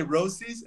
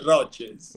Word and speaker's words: Roces: was pushing roach roaches roaches roaches um say Rosies and I used to get just burned yeah yeah it's roaches roaches who was the last they were saying